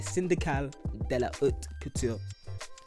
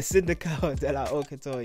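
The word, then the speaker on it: Syndicale de la Haute Couture: So like the syndical de la haute couture, have to say it like that. The syndical de la haute couture, yeah, they have rules, right?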